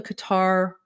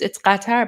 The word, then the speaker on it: Qatar: little bit of a Qatar 101. Well, it's Qatar, but in English, it's pronounced Qatar.